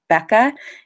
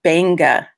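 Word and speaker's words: Beqa: And just so you know, in Fijian, Q's are pronounced NG. So some people would say Becca, it's Banga Adventure Divers, just so you think I'm not mispronouncing it or anything.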